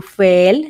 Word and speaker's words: feel: también de manera regular cuando veas dos es juntas vas a cambiar el sonido de la e por una I Entonces en este caso no es tu feel sino tu feel sentir